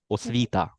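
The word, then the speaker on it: освіта: Yeah, and we don't have this aspiration on t like it's in English. We have it without aspiration. Osvita, like this.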